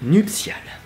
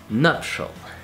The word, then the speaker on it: nuptial: So how to pronounce nuptial in French? Nuptial. Well, that's easy. Just say nuptial and then make it sound softer, more romantic, artistic, poetic, sexy, more voluptuous.